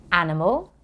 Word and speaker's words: animal: Can you hear the ul sound at the end of animal? Animal, animal.